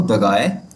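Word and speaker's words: drei: द्राए या तो इसकी प्रोनाउंसिएशन द्राय है या तो दगाय।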